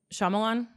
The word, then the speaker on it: Shyamalan: Shyamalan.